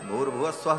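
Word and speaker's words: भूर्भुवः स्वः: ये तीन व्याह है तीनों को जब एक साथ उच्चारण किया जाता है तो ओम भूर भुव स्व ऐसा हो जाता है विसर्ग को र हो करके और फिर व र ऊपर चला जाता है तो भूर भुव स्वा ऐसा उच्चारण होता है लेकिन मूलतः व तीन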